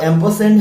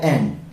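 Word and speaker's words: ampersand: तो इसका जो एग्जैक्ट प्रोनाउंसिएशन है वो एम्परसेंड है, लेकिन मोस्टली पब्लिक यूज में इसको साउंड दिया जाता है एंड।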